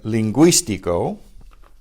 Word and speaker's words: lingüístico: So you have the ungüento and lingüístico. Ungüento, do you recognize that word? An unguent, which means like an ointment or a salve. And lingüístico, the two dots mean you pronounce the U.